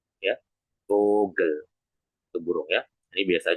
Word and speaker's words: Vogel: Yaitu vogel ya. Vogel itu burung ya. Ini biasa aja ya. Tapi memang huruf V-nya ini memang ditekan ya menjadi vau kan. Jadi vogel.